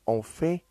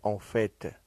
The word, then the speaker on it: en fait: Кстати, выражение «en fait» или «en fait», что переводится фактически, в сущности, действительно, на самом деле, допускает двойное произношение. «Т» чаще произносится в неформальном стиле общения.